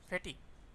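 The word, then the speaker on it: fatigue: ফেটিক, fatty অত বন্ধু রয়েছে অবসাদ, মানে ক্লান্ত লাগবে, দুর্বলতা কাজ করবে, এর উচ্চারণটা কী করছি বন্ধুরা আমি, ফেটিক।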